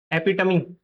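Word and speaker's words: epitome: तो the correct pronunciation is एपिटमी। एपिटमी ये जो इ है लास्ट वाला ये जो इ है ये भी प्रोनाउंस करना पड़ेगा आपको। You have to pronounce this word this letter A well. Okay? ये वाला जो लास्ट वाला इ है एपिटमी।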